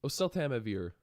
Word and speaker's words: oseltamivir: hello everybody let's fight the flu with oseltamivir oseltamivir oh so Tama vir oasl Tama beer that's how you pronounce it um which is number five on